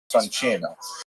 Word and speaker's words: Soncino: I will probably Cino because I was born in North America, but it is in situ it would be pronounced Soncino.